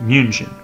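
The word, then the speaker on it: München: the English name its name in German is pronounced museum understand those two facts good then we are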